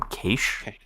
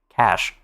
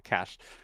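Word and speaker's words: cache: Did you just call them qu? Isn't that how it's pronounced? Cash. No way. Really? Am I saying it wrong? Okay, fine. Cash.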